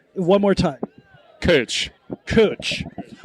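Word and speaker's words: Kölsch: I've also heard uh kosh, but it's one more time. Coach. Cooch. Almost like coach as in the handbag, but instead of an O, a U.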